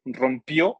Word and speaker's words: rompió: Entonces, como vemos en la primera, sí debe de ir tilde en la O. Por ejemplo, rompió, lleva acento en la O, comió, llegó, lleva acento en la O porque es pasado.